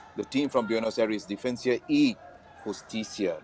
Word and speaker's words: Defensa y Justicia: As you can see right now, Churchill brothers as well as the team from Buenos Aires, Defensa y Justicia. Did I pronounce it correct? Well done. Well done.